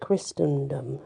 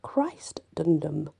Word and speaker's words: Christendom: to bring her back now they did used to call it christendom as well this one is actually christ dundum if it is possible